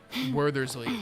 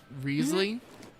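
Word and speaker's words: Wriothesley: It's not Werthersley, it's Riesly.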